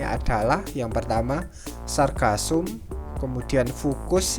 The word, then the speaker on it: Fucus: Kemudian untuk contoh dari alga coklat atau Pheophyta ini adalah yang pertama Sargassum, kemudian Fucus, ini kurang F bacanya Fucus, kemudian yang ketiga adalah Turbinaria.